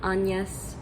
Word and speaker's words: Agnes: liked the mother character it's spelled agnes but i think it's pronounced like anyas or something like that